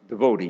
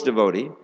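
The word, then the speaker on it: dévot: is the contact with God's devote as we say the real pronunciation is devot uh and Awakening affinity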